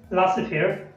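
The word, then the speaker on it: laissez-faire: jade is silent later, there are no fixed rule about jade but in these words are jade is silent later, for example शे शे, लासेफेअर लासेफेअर लासेफेअर लासेफेअर, लासेएलर लासेएलर, रॉन्डेव्ह्यू रॉन्डेव्ह्यू।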